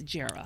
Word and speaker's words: Jera: It's short for Geraldine, but it's Jera.